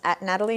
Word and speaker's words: Nathalie: They just throw them in for decorative purposes because we don't pronounce them.